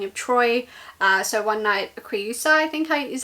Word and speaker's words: Creusa: So one night Creusa, I think is how you say it.